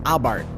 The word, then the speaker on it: Abarth: It's the Fiat 500 Abart. And just so we're clear, it really is pronounced Abart with a silent H.